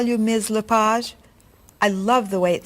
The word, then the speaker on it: Lepage: Is your last name pronounced LePage? It's Lepage, actually.